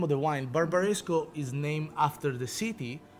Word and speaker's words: Barbaresco: yeah yeah Barbara's go ok so that again barbaresco barbaresco pronunciation nailed ahead 10 plus guy about marisco